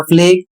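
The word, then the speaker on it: plague: इसके नीचे एक शब्द है पी एल ए जी यू ई इसे पढ़ा जाएगा फ्लेग और इसकी हिंदी होती है महामारी।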